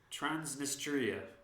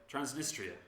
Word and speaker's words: Transnistria: go yeah so this place is called my pronunciation is going to be shocking tran trans transnistria transnistria yeah yeah it's a breakaway state in the